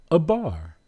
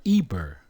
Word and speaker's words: Eber: His name is not Eber. His name is Abar. And once we add the vowel at the end, because we're using Ya as a vowel, it's Abarya.